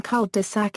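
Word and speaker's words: cul-de-sac: cwl and dead jel the French expression called desac is used in English as is with the same meaning but a spelling pronunciation the L is mute in French but enunciated in English changes in pronunciation when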